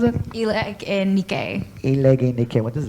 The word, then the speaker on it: Nikke: How do you pronounce it? Eleg and Nikkei.